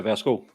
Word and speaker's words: værsgo: Yeah, værsgo. As normal people say it in Denmark, not the Swedish version. Vasugu is how you say it in Swedish.